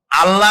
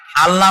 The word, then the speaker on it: আল্লাহ: নাম আল্লাহ বলেন তো আল্লাহ নয় কিন্তু আল্লাহ হচ্ছে অশুদ্ধ শুদ্ধ হচ্ছে আল্লাহ বলার সময় মুখটা গোল হয়ে যাবে বলেন তো সবাই উচ্চারণ